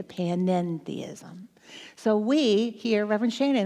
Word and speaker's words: panentheism: That's what that little extra syllable means, the end, the panentheism. So we here, Reverend Shannon and I, the things that we teach is called panentheism.